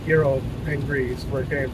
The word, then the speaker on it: gyro: I know it's pronounced gyro in America, but it's gyro in Greece, where it came from.